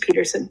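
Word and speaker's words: Pettersen: entry draft, is Emilio Peterson. Did I say that right? Yeah, it's just Peterson. It's the same North American pronunciation.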